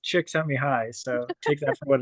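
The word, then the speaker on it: Csikszentmihalyi: figure out I know I had to write it down phonetically which is which is just chick s me high so take that for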